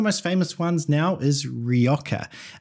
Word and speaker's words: Rioja: And one of the most famous ones now is Rioja, also known as Rioja. I think you can pronounce it both ways.